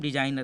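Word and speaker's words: designer: क्या पढ़ेंगे इसे हम, डिजाइनर। देखिए यहाँ पर भी हमारा जी साइलेंट है, डिजाइनर, जी साइलेंट हो गया ना।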